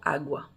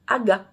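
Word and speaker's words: água: Mais quand tu as appris à lire en français, ben, tu vas avoir la tendance à lire aga, parce que c'est un G-U. Il n'y a pas de son U en portugais. Donc, c'est soit agua, soit aga.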